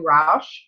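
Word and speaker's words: Rusch: It's called Selling It Softly by Sue Rausch. It's her last name is spelled R-U-S-C-H.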